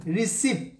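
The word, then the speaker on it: receipt: ওকে, তাহলে ceiling সিইআই, রিসিপ্ট, রিসিপ্ট, ওকে, আর ই সিইআই, এই যে দেখেন রি সি এবং এটা পিটা হচ্ছে সাইলেন্ট লেটার, রিসিপ্ট, পি বলার দরকার নাই, রিসিপ্ট এরকম না, রিসিপ্ট, এটা পিটা সাইলেন্ট লেটার।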